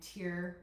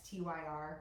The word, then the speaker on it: TYR: Um Speedo and Tier, that's the company that's tyr, but it's pronounced tier.